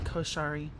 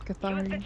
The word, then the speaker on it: Cathari: Come on, Koshari. We got this. You're still saying it wrong. It's Cathari. Oh.